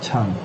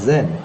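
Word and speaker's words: 禪: And then in Japan, this character, the Chinese character, is pronounced Zen, and in Korea it's pronounced Son.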